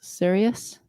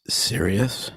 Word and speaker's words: cereus: Any hints on why it's called Bacillus cereus? Because it's serious. It's very, very, very serious. But it's serious spelled with a C. Yeah, and C-E-R. it's not from cereal.